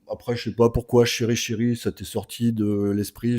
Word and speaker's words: CheryChery: Est-ce qu'il y a chéri ? Chéri alors chéri et chéri.